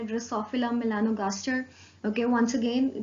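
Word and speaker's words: Drosophila melanogaster: एक फिगर दी हुई है बेसिकली फ्रूट फ्लाई की, जिसका साइंटिफिक नेम है ड्रोसोफिला मेलानोगास्टर. Okay, once again pronounce कर रही हूँ, ड्रोसोफिला मेलानोगास्टर, जिसको यूजुअली फ्रूट फ्लाई भी कहा जाता है.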